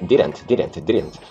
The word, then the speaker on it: didn't: A primeira é didn't. Você percebe que só tem uma vogal, ok? E essa vogal é curta, semi-neutra, e entre o D e o N tem uma vogal oral oculta neutra, tá?